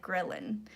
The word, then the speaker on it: ghrelin: And so that's pretty much, and it's called the ghrelin. I can't ever say it right. That's why I had to like look it up. It sounds like gremlin, but it's like ghrelin hormone.